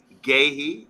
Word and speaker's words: Guéhi: I always find it hard to pronounce his name. Guéhi, I think that's right. Very good defender, centre back from Crystal Palace. Reports have been keeping close tabs on Guéhi, who has gone from strength to strength since